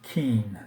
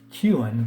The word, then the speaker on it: Kuenn: an eighth place finish Hardy King King is pronounced King not Q hard to chew or became some people pronounce of Harvey queuing but it is King he played 15 seasons